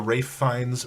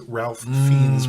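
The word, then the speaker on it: Ralph Fiennes: name it's even an even worse version of the ray finds Ralph fiend's problem Oh ra finds yeah finds fiends there was oh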